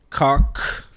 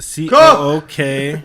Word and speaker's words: Cook: Cock with the C-O-O-K. Cook!